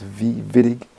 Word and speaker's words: Wittig: who discovered this reaction i think it's a german name so it's pronounced as v-vitig so let's say you